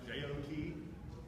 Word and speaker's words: JWT: emerging I'll talk about briefly which are called jock tokens your spelled JWT but they're pronounced jo ki its assessment we do things RFC 7519 if